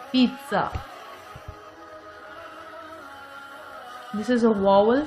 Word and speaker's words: pizza: Sandwich, pizza, pizza. T sound is pronounced here before Z sound. This is pizza.